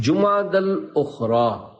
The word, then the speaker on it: جمادی الاخری: لغت کے اعتبار سے ان دونوں مہینوں کے درست نام اور صحیح تلفظ یہ ہے، جمادی الاولی، جمادی الاخری اور جمادی الاخرہ۔ پیارے پیارے اسلامی بھائیوں،